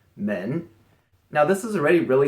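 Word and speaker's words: 门: number 19 this is the character for door pronounced men now this is already really simple and probably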